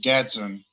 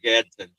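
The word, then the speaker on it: Gadsden: Um Olive and Gatson. Gad Gat Gatson, whatever. How do you say it? I would consider Gadson.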